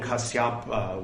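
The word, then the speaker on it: Kassapa: the lord and when kasyapa was lord was the lord we learned at one point that kasyap was the proper pronunciation i'll say was the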